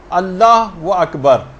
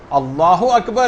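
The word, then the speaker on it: الله أكبر: جو آپ کہیں گی۔ بہت سارے غلط تلفظ لوگوں کے اندر رائج ہیں، مثلا اللہ و اکبر، اللہ اکبر ہے، یہ اللہ و اکبر نہیں، اگر کوئی ایسے کہہ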